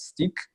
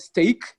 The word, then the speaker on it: steak: I said speak so this is pronounced a sake many people make a mistake upon are sitting at stick which is wrong it's called steak brown rice and barbecue